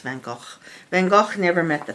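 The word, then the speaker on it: Van Gogh: uh van go never actually it's pronounced van go van go never met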